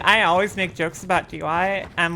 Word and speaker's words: Dyat: Do you not know that this area is named Dyat? I didn't mean to say it like that. D Y A T is the name of this area.